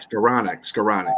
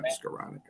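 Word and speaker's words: Skowronek: resigned wide receiver Ben scow neck how you pronounce scanic scanic scanic that's right okay yeah scanic scanic he's a good special teams SC receiver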